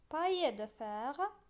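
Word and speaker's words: paille de fer: كيف ما سمعتوا باي ماشي بال، واخا كاين دو زيل ولكن كنطقوا باي. هنا عندنا باي دو زيل ولكن كتنطق اي، بحال فامي كنقولوا فامي ماشي لا فاميل، واخا كاين دو زيل كتقرا فامي. بحال نفس الشيء هنايا باي كتكون اولا كتنطق باي ماشي بايل.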